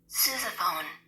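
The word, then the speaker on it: sousaphone: o n e and this is how it's pronounced sopone I didn't say that sopone sopone Su oh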